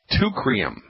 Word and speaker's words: Teucrium: It's called Teucrium. You spell that T-E-U, C like Charlie, R like Roger, I-U-M.